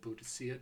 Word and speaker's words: Boadicea: will be aware of who Boudicca or Buddhist seer depending on your pronunciation is you may have